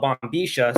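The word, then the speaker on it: bombilla: In Argentina, they call it bombisha. So I speak with the Argentinian accent, and I say sha. Every time there's a double L, it's pronounced sha, like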